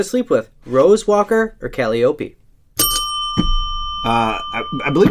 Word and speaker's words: Calliope: Rose Walker or Calliope? I believe it's pronounced Calliope.